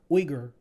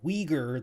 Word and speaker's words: Uyghur: And yes, for you Americans, it is Uyghur. It's not Uyghur, that's the bastardized American version.